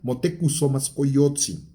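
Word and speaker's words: Motecuhzoma Xocoyotzin: El propio Moctezuma, empezando porque no se pronuncia Moctezuma, se pronuncia Motekusomascoyotzi, ¿sí?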